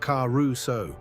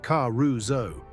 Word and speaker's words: Caruso: Not Caruso, the American way, but Caruso. An S between two vowels turns into a Z.